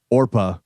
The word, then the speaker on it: Oprah: was growing up so people would see it and say Oprah. Oprah. She was might as well go with it instead of Orpa.